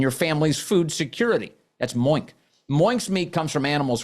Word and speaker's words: Moink: That's Moink.